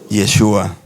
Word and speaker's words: Yeshua: en griego yuas y en el original en el hebreo Cómo es yeshua yeshua por la pronunciación fue cambiando pero el nombre original es yeshua cuando estaba estudiando no